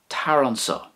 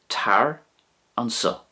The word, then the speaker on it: tar anseo: If you wanted to say "come here" in Irish, in Munster you would say tar an sa, tar an sa.